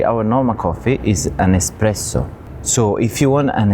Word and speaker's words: espresso: In this case, there's no X. So, it's not espresso, but espresso.